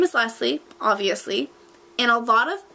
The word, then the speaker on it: Lesie: Okay, my number one pet peeve is when people don't pronounce my name correctly. My name is Lesie, obviously.